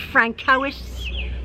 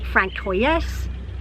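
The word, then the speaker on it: François: i'm like oh sorry he said frank cowis francoise franz zoe i said what you don't r-a-n-c-o-i-s francois don't they know it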